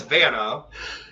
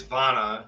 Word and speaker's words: Vana: In America, it's Vana, but my last name actually is Czech, so it is Vana if you pronounce it the way it should be pronounced in the language that it was made in.